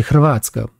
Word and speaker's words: Hrvatska: Déjà, la langue française est pénible, mais la Croatie, le vrai nom de la Croatie, c'est Hrvatska. Mais comme personne ne sait prononcer le H de Hrvatska, ils mettent Hrvatska, donc Croatie.